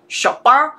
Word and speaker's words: Chopin: pronounce her surname c-h-o-p-i-n for me that sounds french i'm tempted to like put on a slight french accent and go shopper um or just like